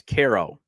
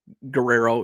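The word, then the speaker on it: Quero: so onto Caro and it's Caro not Guerrero you're GNA hear that's the thing you're going to hear his name butchered and I know I've butchered names I just did in the last segment but you're going to hear a lot of his name being butchered by a lot of broadcasters once he comes up KERO carero Guero it's car o Koo also Carol so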